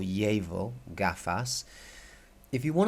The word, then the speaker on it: llevar: Jabil gaff us and the Double L in Spanish if you want to keep it simple is like a Y sound so behave be able or llevar gaff ass if you